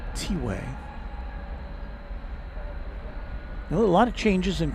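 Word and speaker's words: T'way: I was I was not sure at all if it was pronounced tway or twe cuz it's spelled t apostrophe w a y but I was corrected that it is tiway.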